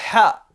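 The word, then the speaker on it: ح: Le ha, qui se prononce au niveau du milieu de la gorge, le ha, qui n'est pas présent dans la langue française, mais on le retrouve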